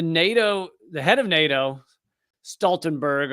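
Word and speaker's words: Stoltenberg: the head of NATO Stenberg although I guess it might be pronounced stalen bur or whatever wherever he you know where where he's from but uh this interviewer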